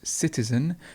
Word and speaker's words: citizen: a citizen and we've got the schwa at the end so it's citizen the stress is at the beginning citizen and clearly clearly